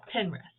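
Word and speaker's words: Pinterest: on pine pin rest i always call it pine rest you know it's spelt like pine red anyway pen rest and um just remember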